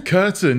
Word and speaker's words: Kurten: Kurten, yeah. Like, people get confused with something you put over the window, but it's not spelled like that.